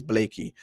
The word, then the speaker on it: Blakey: that I spell it but I did spell name wrong but it's Blakey so for those that are joining us right